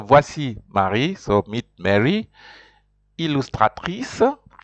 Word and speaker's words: illustratrice: Illustratrice. In R in French, R's are important, so that's why you will hear that the R is well pronounced.